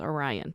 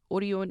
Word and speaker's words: Orion: might pronounce it as orion but orion is how it's pronounced in korean and orion is specifically